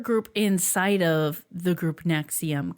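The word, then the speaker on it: NXIVM: But this podcast by the CBC is called Uncover Escaping Nexium. Again, it's spelled NXVM.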